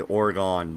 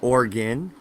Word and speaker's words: Oregon: all on works too I'm sure you say orgone don't you I just did yeah it's organ ooh so think Orry gun gun like boo pew pew yeah it was already gone it's organ almost like your heart is an organ its organ that's how locals pronounce it it's organ yeah